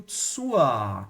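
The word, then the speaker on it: zur: Agora aqui eu tenho tsua com r. Esse R aqui é pronunciado como se fosse um a de alex, tá? Ele é um R que a gente chama de vocálico porque ele está no fim da palavra.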